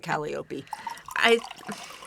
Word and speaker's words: Calliope: And Calliope. Yeah. Or as she pronounces it, Calliope. I don't speak Greek. I know the musical instrument Is a calliope. which is why I'm saying it that way.